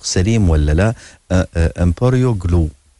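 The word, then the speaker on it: EmbryoGlue: دكتور يعني في تقنية جديدة أنتم تستخدمونها في هذا المجال، هي ما أدري إذا بنطقها بنطق سليم ولا لا، إمبريو جلو. إمبريو جلو مظبوط.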